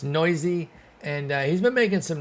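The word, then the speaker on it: Neuse: Sheldon Noisy is how you pronounce it. It's not Noose. It's Noisy, and he's been making some noise.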